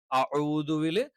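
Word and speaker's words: أَعُوذُ: അഊദുവില് അഊദു എന്നാണ് കറക്റ്റ് ആയിട്ടുള്ളത്. അഊദു അതുപോലെയുള്ള എല്ലാം തെറ്റാണ്.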